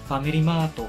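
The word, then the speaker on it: ファミリーマート: For Starbucks, they would say Staba or Starbucks, Family Mart, Family Mato.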